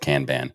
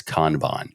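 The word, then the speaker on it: Kanban: pronounce it I have I always said can ban okay but when I said it on a show years ago I was repeatedly explained it was kbon kbon however that sounds J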